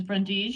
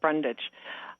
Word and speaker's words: Brundage: is ms patty brundige miss brundees you're live on the air with the designer view board thank you it's pronounced brundage um i have lived